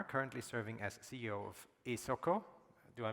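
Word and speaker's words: Esoko: He's a geoinformation scientist, agronomist, and a farmer currently serving as CEO of ESOCO. Do I pronounce that correctly? ESOCO, yes.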